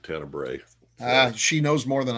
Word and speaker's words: Tenebrae: know oh God yep I've been pronouncing it to neighbor um all my life and I guess that's wrong but what do I know I don't know I'm just going by the the you know the woman on the commentary was saying tenebrae uh she knows more